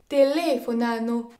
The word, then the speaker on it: telefonano: Puis les mots accentués sur la quatrième syllabe, ils sont appelés les parole bistrucciole. Ils sont assez rares et il ne s'agit que de formes verbales. Telefonano.